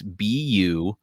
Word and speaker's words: Buddug: It's Buddug. Carrie. Yeah, that's a good guess. So the DD makes a th sound.